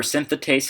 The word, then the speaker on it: synthetase: the prpp synthetase enzyme remember synthetase has three syllables compared to synthase which is two and we know the